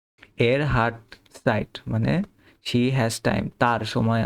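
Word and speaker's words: Zeit: ইশবে জাইট site. এটা আমরা হচ্ছে যে ছ এর মত উচ্চারণ করব। ছাতার ছ।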